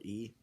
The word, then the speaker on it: yi: if it's what it's it's with y i it can be pronounced e or sometimes sometimes sometimes they don't even use they'll use the y they just say e e being meaning righteousness or